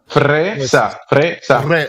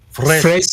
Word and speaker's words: fresa: Fresa. With the roll in the R. Fresa.